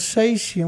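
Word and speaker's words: caesium: Plus 524 becquerels of cesium, which is the British way of pronouncing it, which just exceeded the 500.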